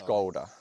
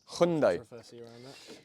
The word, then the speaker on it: Hyundai: pronounce the nation repr pronounce the name people pronounce it's hyai Hyundai cool um we've made it really challenging so